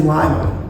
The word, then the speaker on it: Lima: on my own Lima it is Lima correctly pronounced very good I nearly made the